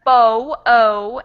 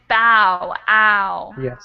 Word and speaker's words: bow: B that's yeah so the first one is Bo o and this next one is bow ow awesome thanks s Kevin will